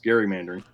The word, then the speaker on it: gerrymandering: in this one thing it's gerrymandering with a hard G is named after Elbridge Gary Massachusetts governor and it's spelled g-e-r-r-y but his name is Gary so it's gerrymandering well no I'm glad